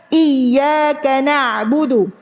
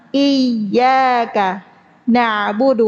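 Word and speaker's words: إياك نعبد: Iyyaka na'budu ya pakai pakai apa? Tasdid. Ditekan apanya yang ditekan? Makhrajnya. Di mana makhraj huruf ya? Tengah lidah. Tengah lidahnya tekan ke atas. Iyaka na'budu artinya hanya kepadamulah ya Allah kami menyembah. Tapi sering terbaca iyaka na'budu tanpa tasydid.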